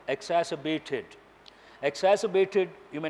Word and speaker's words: exacerbated: exacerbated, R is silent here, exacerbated.